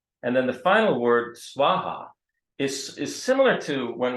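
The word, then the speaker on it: svaha: monks pronounce this word we see it as s-v-a-h-a they don't go Savannah they go SWA and you can also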